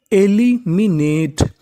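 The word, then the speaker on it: eliminate: मैंने बताया कि इ का उच्चारण आपको करना नहीं है। तो मीनिंग बनी एलिमिनेट एलिमिनेट एलिमिनेट एलिमिनेट का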